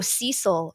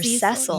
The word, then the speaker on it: Cecil: Oh, Cecil or Cecil. Yes. So in England, we say Cecil. Yes. Yeah. But Americans, Canadians, North Americans say Cecil.